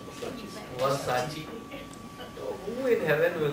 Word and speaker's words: Versace: They said, it's not verses, it is Versace.